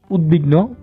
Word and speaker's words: উদ্বিগ্ন: নিয়ম 4 আমরা বলতে পারি উত উপসর্গ যুগে তৈরি শব্দে দ এর সাথে ব ফলা যুক্ত হলে ব এর উচ্চারণ স্বাভাবিক থাকে, অর্থাৎ ব উচ্চারিত হয়ে থাকে। যেমন উদাহরণস্বরূপ আমরা বলতে পারি উদ্বিগ্ন, উদ্বেগ, উদ্বোধন ইত্যাদি শব্দ।